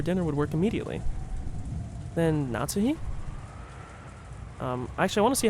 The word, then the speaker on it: Natsuhi: じゃあ、夏日姉さん Natsuhi. Yeah, so pronounce or enunciate the last part.